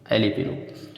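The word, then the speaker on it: jalapeño: उसी का नाम है एलिपिनो। तो इसमें मैरिवाना और एलिपिनो ये दोनों शब्द में जे साइलेंट है।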